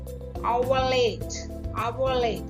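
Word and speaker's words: hour: Next அவலேட். அவ இன்னைக்கு H வந்து சைலண்ட். ஓ வந்து ஓ என்ற வேர்ட் தான் ஆவ ஆ என்ற ப்ரொனன்சியேஷன்ல வருது. ஆனபடியால இது வந்து வவல் சவுண்ட்.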